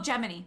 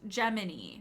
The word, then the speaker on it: Gemini: The NASA mission is pronounced Gemini, but otherwise people usually say Gemini.